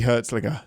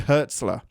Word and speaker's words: Hertzler: Hertzlinger. Gosh dang it. How do you pronounce his name? J.G. Hertzler.